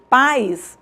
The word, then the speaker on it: pais: a pronúncia é país quando eu pronuncio pais eu não separo em pais esse I ele é uma semivogal Então não é acentuada é uma palavra monossilábica então eu faço a